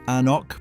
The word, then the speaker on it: anCnoc: Number 12, anCnoc 12, pronounced An-nock, priced around $35 to $45.